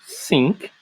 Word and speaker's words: think: Embaixo eu tenho think, think, think, think, think, think. Viram como é que foi a pronúncia totalmente diferente? Eu estou enfatizando muito o início com o som do TH para você que já